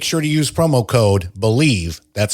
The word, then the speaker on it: BLEAV: Make sure to use promo code BELIEVE, that's spelled BLEAV, to receive your rewards.